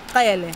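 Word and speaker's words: Cele: Kayele. Henry Kayele. Kayele, yes. Yeah. And it's in the middle of the tongue and the top Kayele. Of the Kayele. Kayele. It's softer. So there's three clicks. Kayele.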